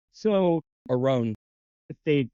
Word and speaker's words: Roan: Yeah, I'm old- Roan, like I don't know, Roan, Rome, like Sown.